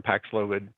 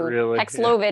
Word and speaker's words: Paxlovid: are those who um can most benefit from paxlovid.